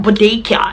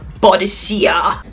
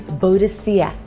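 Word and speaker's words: Boadicea: In fact, she taught us how to pronounce it. She's like, it's not Bodecia, it's Bodecia. It's Bodecia.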